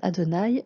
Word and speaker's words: Adonaï: de repérer non seulement la graphie de quatre lettres de qu'on prononce adonaï mais également les autres